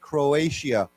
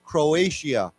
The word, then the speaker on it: Croatia: word is pronounced with not with a t but with a sh sound right Croatia uh why don't we say together Croatia Croatia yeah um to